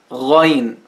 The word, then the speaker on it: غين: The name of this letter is غين غين, it's easy. It sounds غ, غ.